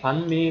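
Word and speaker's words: bánh mì: 편하고 과학고 싹 눈 시기에 자 이 가운데 반미 같은 경우에는 발음할 때 아까처럼 더 많음 할 때처럼 벌어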